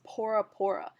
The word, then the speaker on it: Bora Bora: A little inside tip, Tahitians pronounce Bora Bora as Pora Pora because there's no B in their alphabet.